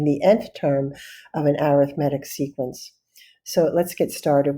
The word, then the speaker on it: arithmetic: You can say arithmetic if you want. This is how I learned it, though. If we're talking about a sequence, we pronounce it arithmetic.